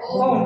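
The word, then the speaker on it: won't: will সামনে চলে গেছে উইল আর নট একসাথে বসলে উচ্চারণ হয় ওম উচ্চারণ হয় ওম তার বানানটা হয়ে যায় ডব্লিউ ও এন অ্যাপোস্ট্রোফি কমা আর টি ওম ঠিক আছে তারপর কন্টিনিউয়াসে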